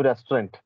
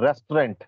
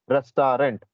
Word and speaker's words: restaurant: to taste the delicious food at that new restaurant this is called restaurant not restaurant generally we pronounce restaurant but it's correct pronunciation is restaurant okay I